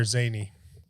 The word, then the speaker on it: Zayni: In Arabic is Zayni. Zane. Zayni, yeah. Zayni.